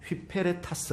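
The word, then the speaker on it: ὑπηρέτας: 타스 라는 헬라 온 휘 페레 타스 라고 발음합니다 그런데 이 회피 페랄타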